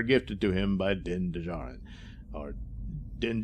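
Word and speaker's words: Djarin: to him by din dijaren or din jar and i i keep thinking the d is silent in the second one right you know anyway uh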